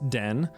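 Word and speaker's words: 電: this kanji is to represent electricity it is pronounced Den but uh that's kind of a side part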